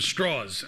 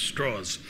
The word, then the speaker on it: Strauss: American named LS Strauss except Strauss lived in Virginia where people couldn't pronounce Strauss so they called him straws and so he's known as Louis straws um he was a